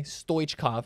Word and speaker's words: Stoichkov: The CH, got to pronounce that. I learned that yesterday. Stoichkov, right?